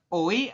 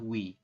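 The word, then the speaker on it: 외: Berarti dibacanya gimana? Oi atau wi? Dibacanya sama ya. Adalah wi. Seperti itu. Jadi kita bacanya sama, wi, bukan oi. Ini kan oi ya, o dengan i, maka dibacanya wi.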